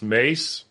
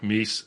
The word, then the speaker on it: Mies: with this fellow Mies, who my Dutch friends are saying is pronounced Mace, but I kind of like Mies, so I call him Mies.